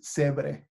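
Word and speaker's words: Zebre: In English, Cibre, if you go Italian or Spanish, is Cebre.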